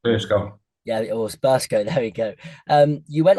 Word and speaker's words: Burscough: And after, well, I need to pronounce this right, but after Birkenshire, I think I'm saying that right, maybe. First go. Yeah, it was Burscough.